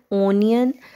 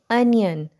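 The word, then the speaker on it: onion: Next हमारे पास है, कुछ लोग इसे बोलते हैं ओनियन, जबकि ये गलत प्रोनंसिएशन है। उर्दू में इसे प्याज कहते हैं और इंग्लिश में इसे इस तरह प्रोनाउंस करना है आपने, अनियन, अनियन, अनियन।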